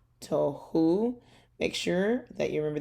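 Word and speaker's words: תֹהוּ: so it's hi ta to because our o sound is up here to tohu make sure that you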